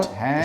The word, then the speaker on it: Hotham: 'cause Hotham this is- Street. Nothing you want to say about Hotham? Well, my daughter once I know pronounced this it. one, You know, Hotham. She pronounced it hot ham, Gary, and there's you